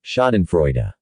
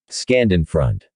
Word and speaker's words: schadenfreude: ha ha oh wait listening to other people mispronounce the word schadenfreude scanned in front shade of front shaftel nude people who can't say